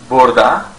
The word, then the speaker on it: burada: Burada or burada. You can pronounce it both ways.